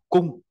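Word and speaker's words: 工: công nghiệp công nhân ta đọc là cung đọc to này cung nhớ g đọc thành cờ nhá ngang xong rồi sổ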